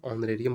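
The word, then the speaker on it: honorarium: यहाँ ये साइलेंट होता है, ऑनरेरियम बोला जाता है।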